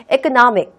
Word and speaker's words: economic: 그러면 얘는 읽을 때 S 발음을 하면 절대로 안 되겠죠. 여러분들이 여기다 S 발음 해버리면은 여러분들이 전달하고 싶은 내용에 완전히 반대되는 또는 말도 안 되는 뜻을 전달하게 되는 거예요. economic, economic, economic.